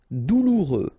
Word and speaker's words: douloureux: Douloureux, remember final X not pronounced, so you get this OU together, ou, douloureux, douloureux.